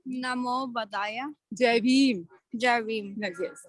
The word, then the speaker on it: Namo Buddhaya: How do you pronounce that? Come here. Say Namo Buddhaya. Namo Buddhaya.